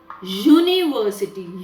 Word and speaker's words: university: again children university to the sound it begins with is university u which is a consonant